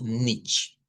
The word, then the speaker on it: nichts: Y en Dutch vamos a usar nichts, así como está acá. Nichts. Pone la pronunciación no de la CH del español, sino una CH que es un poco más suave, que la vamos a ir conociendo poco a poco.